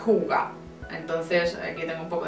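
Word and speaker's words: hygge: cómo se pronuncia porque yo claro al leer Leo hie porque es lo que pone pero creo que se pronuncia huga entonces aquí tengo un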